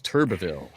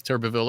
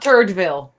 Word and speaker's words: Turbeville: Hey, somebody else did Davis Turbeville earlier, right? Yeah. But See, you- not Turdville. But you said Turbville. Well, I know if it's Turbeville or I could. I think there's an extra syllable in there.